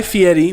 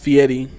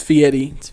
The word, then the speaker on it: Fieri: else kind of started consciousness beginnings so guy fieri which is pronounced fee Eddie I used to call like a couple years ago Fieri but it's it's fee Eddie Eddie okay he is a chef a restaurateur